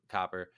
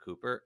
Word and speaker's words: Copper: uh bonner said to copper um i i everyone keeps calling her cooper and it's so annoying because i'm gonna start slipping up and saying it wrong um but said uh